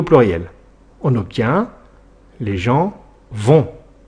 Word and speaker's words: vont: on obtient les gens vont attention le thé à la fin et muet et ne se prononcent pas voilà cette leçon est